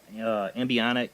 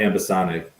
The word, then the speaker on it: ambisonic: And I'm interested in the ambionic, or you say it right, microphone. The ambisonic.